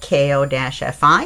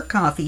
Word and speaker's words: Ko-fi: the Sweet Pea Papers coffee shop. Now, I've discovered that even though it's spelled K-O-F-I, it is pronounced coffee, so I feel much better now because Ko-Fi or Ko-Fi sounded too weird.